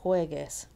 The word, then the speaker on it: juegue: We need a silent U before an E, right? So, don't play. No juegues.